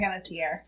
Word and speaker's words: Panettiere: Hayden Panettiere is how it's pronounced.